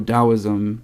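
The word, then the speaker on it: Taoism: or something like that so dosm that t is pronounced as a d and this could be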